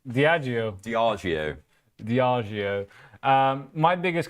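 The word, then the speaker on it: Diageo: But let's have a a look at Diagio there.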